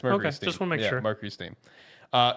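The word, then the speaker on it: MercurySteam: got their name wrong is it not Mercury stream yeah no it's steam is it Steam yeah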